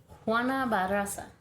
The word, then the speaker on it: Juana Barraza: Alright, so I'm gonna talk about Juana Barraza. Ooh. Can't roll my R's, but it sounded good.